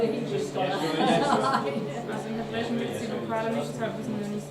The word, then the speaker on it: Jeshua: How do you think you pronounce that versus Joshua or Jesus? Yeshua. Yeshua. Okay. I'm not a Hebrew Just scholar. Yeshua, Also in Hebräischen gibt es die Vokale nicht,